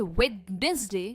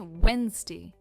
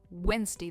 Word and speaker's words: Wednesday: And friends, we don't say witness day. We say Wednesday. Wednesday. The D is silent.